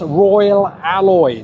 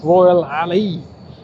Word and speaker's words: Royal Alloy: It's Royal Alloy, not Royal Ali.